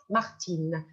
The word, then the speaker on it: Martine: alors regardons c'est Martin le i n se prononce un mais si si on va ajouter la lettre E on va prononcer in Martin Martine alors s'il vous plaît